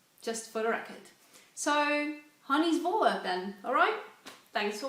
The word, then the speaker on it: Hanny: It's honey, pronounced like honey. I should know, I've been hearing it all my life, but it doesn't have that same meaning in Dutch. Anyway, so not so much like Henny, Hanny, because that's my dad's